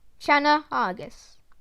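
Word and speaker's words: Channa argus: snakehead the northern snakehead scientific name shanna argus pronunciation shana argus size to around 85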